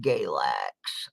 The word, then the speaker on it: Galax: And number 4 on the list was Galax, where I live. And it rhymes with X-Lax for a reason.